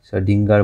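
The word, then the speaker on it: Schrödinger: 1926 এখানে স্টার্ট করেছে সরেঞ্জার, সবাই সরডিঙ্গার বলা হয়, বেসিক্যালি সরেঞ্জার আমরা বলি, সরডিঙ্গার বেসিক্যালি প্রোনাউন্সিয়েশন, এই দুজন একটা মেকানিক্স স্টার্ট করেছে।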